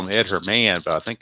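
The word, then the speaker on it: Herrmann: Ham brings up Ed Herman I used to call him Ed Herman her man but I think it's actually pronounced Ed Herman even though there's an extra N on the end 33's a blank 62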